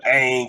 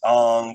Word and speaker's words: Aang: like is basically the same but soccer they pronounce it Soca and instead of Aang is Ong you know just like what do you do